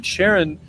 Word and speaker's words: Charon: I mean, Charon tells you, or Charon is like an American way to say it. I think the proper way to say it is Charon.